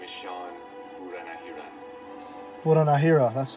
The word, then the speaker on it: Buranahiran: My name is Sean Buranahiran.